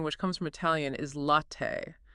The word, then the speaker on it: latte: The native pronunciation which comes from Italian is latte, not latte or latte. That distinct stressed ending t is the standard.